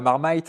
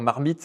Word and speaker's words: Marmite: c'est vrai que la marmaite en anglais c'est le petit pot le truc infame. Donc quand je communique en anglais, on essaie de dire marmite, on le prononce à la française quoi.